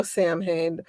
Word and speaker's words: Samhain: a Criminal Minds episode, Sam Hain. There's no Sam Hain. The Dark Lord Sam Hain, no Dark Lord Sam Hain. It's right? pronounced Samhain. It's not an English word, it's a Gaelic word, Samhain.